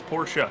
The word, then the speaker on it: Porsche: you for a scarf it's pora it's two syllable oh the Porsche there